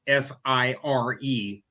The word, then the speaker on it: Fyre: lawsuit hundreds of fry i'm sorry fire f-i-r-e but it's spelled f-y-r-e fire festival ticket holders they're poised